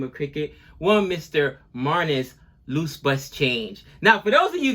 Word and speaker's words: Labuschagne: But no, it's Marnus Labuschagne.